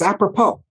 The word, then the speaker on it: apropos: because it's so apropos it has a silent s at the end of the vapor pole by the way okay people think that words funny don't know how to spell it it's apropos so anyway this word